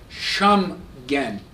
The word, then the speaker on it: Schengen: introduced that was called shamgan to rhyme with Shen again those of you are